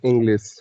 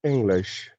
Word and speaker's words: English: See, you are saying English, right? But the correct Sure. pronunciation of this word is English.